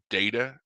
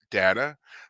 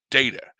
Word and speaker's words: Data: so they say anyway that his name is data not data because the first person to say it was Picard who says data and so from then on he was data and then um when it comes to this